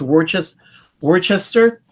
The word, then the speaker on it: Worcester: I think it's pronounced Worcester.